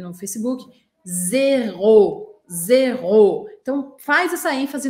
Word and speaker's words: zéro: Presta atenção nesse detalhe. Primeiro que a primeira sílaba zero é mais e, não é é, tá? Em português a gente fala zero. Em francês é zéro, zéro. Um som um pouco mais fechado.